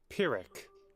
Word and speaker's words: Pyrrhic: Pyric, is that how you pronounce it? Hold on. Pyrrhic.